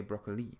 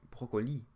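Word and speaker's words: brocoli: in French is that when you pronounce words always stress the very last syllable so in English say broccoli and so we stressed the first a little broccoli in French you will say broccoli broccoli so you stress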